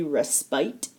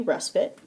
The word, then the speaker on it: respite: know it looks like it should be respite because it has that e at the end but it's actually respite it's a noun a